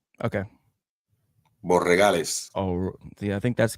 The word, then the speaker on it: Borregales: I always get his name wrong. Borealis. Okay. Borregales.